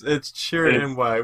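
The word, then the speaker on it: Chirrut Îmwe: And then You you have have me try to mispronounce them. No, it's Chirin Imwe.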